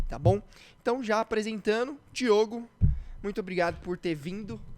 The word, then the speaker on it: Diogo: né e as é mais comum você encontrar diegos do que Diogo Então eu acho que de tanto ouvir Diego Aí eu acabo esquecendo que tem o Diogo aí até na na hora de pronunciar acaba saindo e Diego mas eu não não vou errar não mas todo Diogo é confundido com Diego Diogo é mas nemum Diego chamam de Diogo cara impressionante verdade é